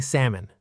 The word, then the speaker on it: salmon: In a sentence, I love eating salmon. Try it. I love eating salmon. Excellent. Memory tip. Think of a person's name, Sam, plus a small un sound at the end.